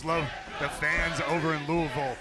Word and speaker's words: Louisville: the fans over in Louisville it's Louisville not Louisville by the way yeah I said it right I know I'm just just